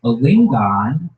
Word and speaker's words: Alingon: Please welcome Alingon, everybody. Alingon. Thank you guys. Oh, thank you guys so much. My name is Alingon.